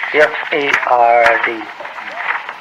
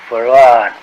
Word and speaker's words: Fard: Farad, F-A-R-D. F-A-R-D. Fard. Muhammad. Mr. Fard, you say? Well, that would be the F-A-R-D? pronunciation in English, but we in the Arabic it's Farad.